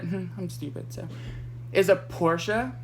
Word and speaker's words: Porsche: each other but I'm stupid so is a Porsche it's pronounced Porsche Porsche is the shortened version just like BMW